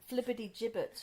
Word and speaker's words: flibbertigibbet: Flibbertigibbet. Flibbertigibbet, not Flibbertigibbet, because that sounds like something from the butchers.